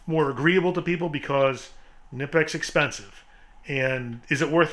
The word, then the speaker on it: Knipex: It's pronounced Knipex.